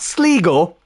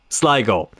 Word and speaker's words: Sligo: Not Sligo, Sligo.